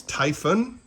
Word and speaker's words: Typhon: For the record, it's Typhon, like Typhon, because typhoon is a tropical storm, whereas typhon is a mythological monster that destroys other monsters.